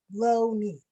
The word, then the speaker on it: Loney: last name pronounced lonely it's lonely like i'm short low knee he landed my dad